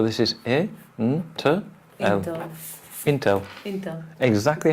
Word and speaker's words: Intel: is a hmm okay Intel feeder ain't exactly how it's written either wolf it's not until it's Intel candles why why because it's short for in telephone or in telecommunications so it's not really